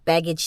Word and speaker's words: Begich: I know how to say the word now baggage Towers um I've been I butchered it earlier but that is called baggage